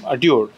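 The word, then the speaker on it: Dior: আই ও আর ডিওর আমি তো এটা পড়তাম ডিওরো তাহলে এটার উচ্চারণ কি হবে ডিওর আবার পুরো শার্টের মধ্যে ডিওর লিখে দিছে এভাবে খুব ব্র্যান্ডিং করে এইটা আচ্ছা তাহলে এটার উচ্চারণ হচ্ছে ডিওর ডিওর ভেরি নাইস এত ভালো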